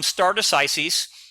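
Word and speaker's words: stare decisis: no we're going to stay here so it's pronounced um stardus Isis uh people pronounce it a few different ways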